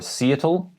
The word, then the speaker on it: Seattle: the pacific northwest but i've heard international people people from germany for instance say cetl or seattle it is seattle so emphasis on the second syllable seattle named after a